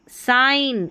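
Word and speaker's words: sign: आइन आई जी एन देखिए साइन आई जी एन आइन तो साइन आई जी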